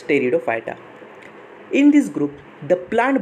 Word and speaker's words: Pteridophyta: So this P is silent, so read it as Pteridophyta.